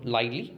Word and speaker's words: Lyly: So now we are going to discuss about the first writer in this group, that is John Lyly or John Lilly. You can pronounce it in these two ways.